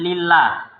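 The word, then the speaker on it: لله: Kalau ada alifnya, nah begitu. Jadi perhatikan di dalam penulisan dari kitab-kitab, dilihat sebelumnya ada alifnya enggak. Kalau enggak ada alifnya bacanya, jadi itu lillah, bukan Allah.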